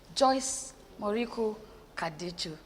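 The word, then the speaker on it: Joyce Moriku Kaducu: Our Super Soul sister, Joyce Moriku Kadichu.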